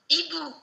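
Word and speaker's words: hibou: Ibu. Ibu. I know, there's a H, but you don't use it, it's useless.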